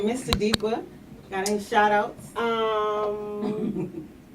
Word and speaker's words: Tsadiqwah: No, you can find me at Tsadiqwah. Sounds like an S, but it's pronounced with the S, but it's spelled with a T. It's TSADIQWAH, which is where you can find me.